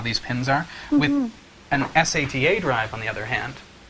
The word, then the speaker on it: SATA: be for sat drives SATA yep well no sat you said it right the first time Serial ATA okay drives